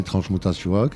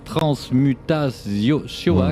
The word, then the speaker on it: Transmutazioak: Basque, et de taper le nom du projet Transmutasiuak et de soutenir le projet à partir de 20 €. Et oui, parlons-en du titre. Le titre Transmutasiuak.